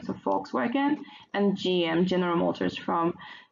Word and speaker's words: Volkswagen: joint ventures with one Volkswagen or Volkswagen, because V is pronounced F in German, so Volkswagen, and GM, General Motors, from so one from Germany, the other from America.